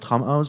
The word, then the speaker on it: Tramhaus: Et oui, donc nous avons le plaisir d'accueillir Tramhouse. Do I pronounce it correctly? I don't know. Yes, you do. Donc deux membres de Tramhouse, donc Lucas and Misha.